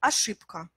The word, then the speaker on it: ошибка: Mais quand vous remplacez le son « b » par le son « p », vous allez voir que c'est beaucoup plus facile. « Ошибка ».